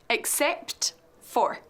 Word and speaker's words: except: Decimos except for, pronunciando bien la P y la T al final de except. Repeat with me. Except for.